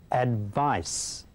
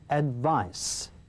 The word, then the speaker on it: advice: advice ที่แปลเป็นไทยว่าคำแนะนำฟัง Stuart ออกเสียงกันก่อนนะครับ Advice. She asked her friend for some advice. ครับออกเสียงว่า advice เสียงสุดท้ายนะครับคือ s นะครับ advice ไม่ใช่ add ไว้ครับพูดตามผมก็ได้ครับ advice advice ซ้ำตัวอย่างครับ Stuart She asked her friend for some advice.